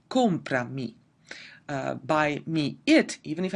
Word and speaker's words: compra: If I'm just saying compra, the emphasis is on o, compra.